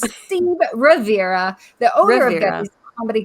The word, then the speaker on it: Rivera: say his name and she said rivera and i said okay just making sure you know how to say his name and then she says steve riviera not once but twice okay it's